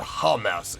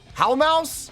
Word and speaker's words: Houmous: performing a tune called it's not humous it how mouse or is it humus